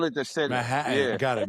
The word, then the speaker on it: Manhattan: Oh, cuz I didn't hear any T's at all when you pronounce the second. It was Manhattan. We call it the city. Manhattan. Got it. Manhattan.